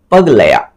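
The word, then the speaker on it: पगलैट: Best foreign feature award का जो बात किया जा रहा है, तो इसका सही आंसर होगा पगलया, इसका प्रोनाउंस ही यही है, पगलया, ठीक है, इसका सही प्रोनाउंस यही है, पगलया।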